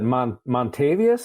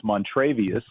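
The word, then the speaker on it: Montravius: But I think we can all agree that Montavious, is that the best name in football right now?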